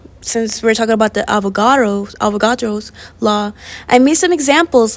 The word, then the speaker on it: Avogadro: Today we're gonna be talking about the avocado law. Girl, it's Avogadro. You gotta say it right.